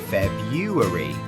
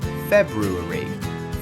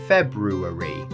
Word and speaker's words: February: Many learners see February and say Feb-yoo-ary. Makes sense, but in standard English, both R sounds are there. The correct way, February. 4 syllables. Stress on the first. February.